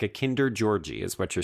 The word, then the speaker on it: Georg: Like a Kinder Georgie is what you're saying.